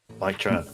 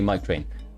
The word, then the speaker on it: Mike Tran: Let's see if we can say it right. Mike Tran. Mike Tran. There you go. MK Tran, right? I was going to say Mike Train.